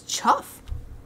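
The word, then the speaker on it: chough: look at this chuff maybe it's chuff chuff like tough oh it makes sense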